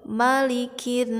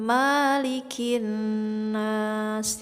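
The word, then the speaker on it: مَلِكِ النَّاسِ: ada kalimah malikinnas nah kesalahannya itu suka dipanjangkan dari huruf mim nya malikinnas disini di mah tidak boleh dipanjangkan karena tidak ada Mad kedepannya ataupun tidak ada harkat patah berdiri Hai jadi ini patah saja ya malikinnas bunyinya harus nyambung harus langsung balikin jangan malikin nanas tidak boleh seperti itu ya di sini sampai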